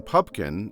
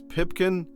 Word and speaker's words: Pupkin: to a lesser extent they frequently mispronounced the name pubkin and instead address rupert as pipkin potkin and even pumpkin perhaps the botching of